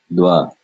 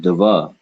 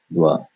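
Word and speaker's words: द्व: So this is neither English va or va or wa, but it is its own individual sound. And in this case, we're going to pronounce it dwa.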